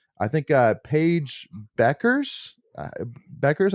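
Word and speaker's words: Bueckers: think uh Paige Beckers Beckers I think is how you say her last name yeah uh you know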